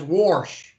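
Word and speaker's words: wash: that live in boston they pronounce w-a-s-h as warsh words yeah just worse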